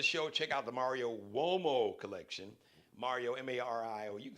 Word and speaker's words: Uomo: Check out the Mario Uomo collection. Mario, M-A-R-I-O, you can spell Mario, but Uomo is spelled with a U. I know it didn't sound that way, but it's U-O-M-O.